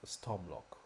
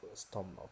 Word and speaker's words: Stormloch: at the end of Stormlock. It's meant to be storm lock. So it's lock. You don't pronounce the K.